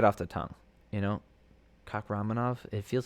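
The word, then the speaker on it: Kakhramonov: All right, Trevin Jones versus Saijukube Kakramanov.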